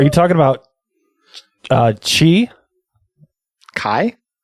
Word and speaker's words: chi: talking about uh chi Kai? Kai? Did you just call it Chi? I had a professor who called it chi. No lie. I never know what I'm 95% sure it's pronounced kai because and I know